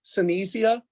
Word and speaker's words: Synthesia: gives you pictures and images you could use senecia so it's spelled Synthesia s-y-n-t-h-e-s-i-a and it actually creates a